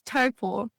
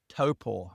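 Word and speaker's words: Taupō: How do you say it? It's Taupo. Taupo. Okay, so it's Taupo.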